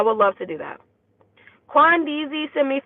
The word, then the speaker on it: Quan: And it's pronounced Quan, not Queen, LOL.